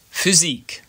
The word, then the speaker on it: Physik: Sometimes, the letter Y, which is called Y, which in itself is great, can be used as a vowel, making an Ü sound. For example, Physik, or typisch, physics, or typical.